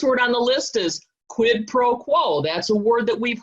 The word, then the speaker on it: quid pro quo: it's a useful phrase quid pro quo three syllables we're going to be